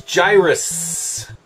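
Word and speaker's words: Gyruss: First up is Gyrus. You have to say it like that because it's got two S's.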